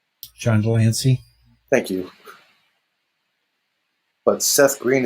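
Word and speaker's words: de Lancie: This TNG is going to have Frakes, Crosby, and John DeLance. DeLance, how do you help pronounce his name? John Delancey.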